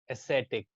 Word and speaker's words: ascetic: these people, they always try to become very ascetic. You can see the pronunciation key. How will you sound it? Ascetic. Set पे आप थोड़ा ज्यादा pronunciation, आपका emphasis ज्यादा होगा इस set पे.